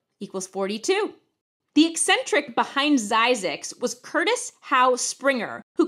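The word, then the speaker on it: Zzyzx: The town of Zyzix, California, which is spelled Z-Z-Y-Z-X, got its name because the man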